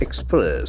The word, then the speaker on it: express: Express. Since it is a verb, the accent falls on the second syllable.